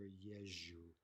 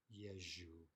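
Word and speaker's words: езжу: Often you won't even hear the ze pronounced. You'll simply hear yeju, yeju, right?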